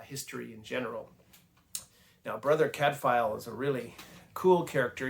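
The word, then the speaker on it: Cadfael: and brother Cadfile is from Wales that's the pronunciation of his name Cadfile.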